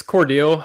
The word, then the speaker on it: Cordele: Cordele, how do you pronounce it? Cordele. Cordele, cool. That's what I put. It's Cordele.